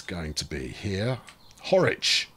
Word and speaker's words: Horwich: Horwich. Rhymes with Norwich.